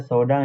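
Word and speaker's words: 相談: Yap, itu dibacanya sodang ya teman-teman yang nomor tiga.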